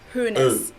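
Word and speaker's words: Hoeneß: an s and then the o e in his name is pronounced like the umlaut o letter so uh hunes and then of course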